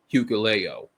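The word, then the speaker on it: Hikuleo: He got uh Tongaloa back and he got Hucleo. That's his name. I finally pronounced it right.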